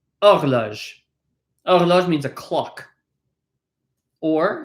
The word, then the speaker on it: horloge: Horloge, not it's hard to say with an H. It's not horloge, but horloge.